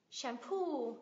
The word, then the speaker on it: shampoo: employee degree degree guarantee đảm bảo guarantee guarantee shampoo dầu gội shampo điều cấm kỵ tab tab